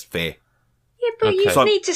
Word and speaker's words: Fe: Moving on then, open world platformer Faye, I guess, or Fee? I'm not sure how you pronounce it. Fee, I would have thought it would be called. It's Faye. Oh, it's Faye. Okay. It's Faye, yeah. Yeah, it's Faye.